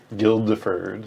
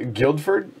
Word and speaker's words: Guildford: into another players you get a passenger and guild deferred yeah guildford guildford guildford right connected to a city so